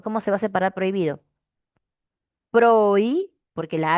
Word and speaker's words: prohibido: Tú no pronuncias prohibido. Sí, greis, no. No le tienes por qué hacer una pausa a la h porque no suena. Es prohibido. Prohibido, todo junto.